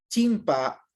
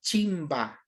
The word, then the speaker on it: chimpa: Chimpa o chimba, que pronuncian la P en ciertas partes como la B. Recordemos que la B no existe en el idioma quichua, ¿no? No existe la B de bebé, no existe. Entonces, muchas veces la P es pronunciada como la B del español, chimba o chimpa.